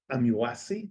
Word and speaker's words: Amuasi: uh and I'm delighted to host Dr John amuasi am I pronouncing it correctly very good I congratulate myself